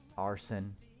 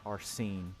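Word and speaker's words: Arsène: comes up like that someone did tell me how to pronounce it arson it's not arsene it's just arson i like i like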